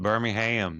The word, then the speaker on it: Birmingham: Um, maybe some I need you to say I need you to say Birmingham. Okay, sorry. Birmingham. Birmingham. You gota You gotta get the A.